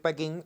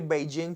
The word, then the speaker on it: Pekín: Podemos decir cualquiera de las dos. En español, según la Real Academia, lo más correcto es decir Pekín, aunque decir Beijing también es aceptado.